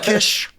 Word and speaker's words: quiche: I call it quiche. Kish.